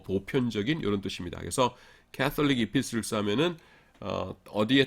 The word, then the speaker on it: Epistles: 그 다음에 이제 공동서신을 영어로 Catholic Epistles 이렇게 부르는데 T는 묵음입니다. Catholic Epistles 이렇게 부르는데 Catholic이라는 것이 로마 카톨릭하고는 아무 상관없어요.